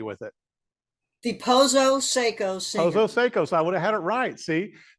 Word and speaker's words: Pozo-Seco: I know I'm going to say the band name wrong, so you can help me with it. The Pozo-Seco Singers. Pozo-Seco, so I would have had it right.